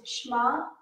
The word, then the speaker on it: Shema: And the way you pronounce it is Shema, Shema Yisrael.